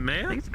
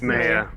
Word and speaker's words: Maya: Is it Mayia? Have I been saying it wrong this whole time? Yes. Yes, it's Maya.